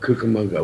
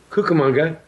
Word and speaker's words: Cucamonga: Prior to that phrase being popularized, there were two pronunciations of Cucamonga. One was Cucamonga, the other was Cucamonga. And it was after the Anaheim, Azusa, and Cucamonga phrase that the K rather than the Q sound became the common pronunciation.